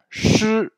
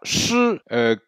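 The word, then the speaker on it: 师: Le mot suivant, shi. Alors, shi, vous entendez qu'il y a un petit E. Pourtant, ça s'écrit avec un I.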